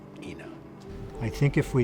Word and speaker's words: Ina: accepted among our population here that yeah it's AA even though we know it's Ena I think if we said at this stage